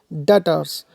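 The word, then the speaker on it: debtors: of personal accounts includes डेटर्स डेप्ट्स लिखा है लेकिन भी साइलेंट होगी यहां पर तो उसको रीड करेंगे हम डेटर्स ठीक है तो डेटर्स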